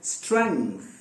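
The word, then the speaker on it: strength: अच्छे अच्छे तुर्रम खां भी ना स्ट्रेंथ कहते हैं, स्ट्रेंथ, यानी वो समझते हैं कि इसमें जी जो है वो बोला नहीं जाता, वो समझते हैं। और एक तो जी वाली बात हो गई, दूसरे उसमें वो टीएच का मिस प्रोनाउंसिएशन भी उनका होता है। मगर आप सचमुच अगर सही प्रोनाउंसिएशन सीखना चाहते हो और सामने वाले को इंप्रेस करना चाहते हो तो स्ट्रेंथ कहोगे, यानी ये अंदर नाक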